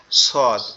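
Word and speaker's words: ص: হচ্ছে সোয়াদ, এটা হচ্ছে সদ, এটার উচ্চারণও সহজ, আমাদের জিহ্বার আগা সামনের নিচের দুই দাঁতের আগার সঙ্গে লাগবে, লেগে উচ্চারিত হবে সদ, সদ, সদ, সদ, সদ।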